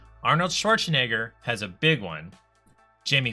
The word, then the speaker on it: Schwarzenegger: Madonna doesn't have a last name, and Schwarzenegger's is Schwarzenegger. 4 syllables.